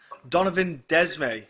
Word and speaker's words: Donovan Desmae: Mason, you are taking on Donovan Desmae, I believe it's pronounced, at Cage Yeah.